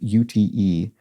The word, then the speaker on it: Ute: Mark Owens says, just like Ute, UTE, is pronounced Ute as though it had a Y.